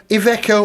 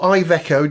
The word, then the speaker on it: Iveco: they sauce with bacon on bacon, Iveco or Iveco, depending on how you say it.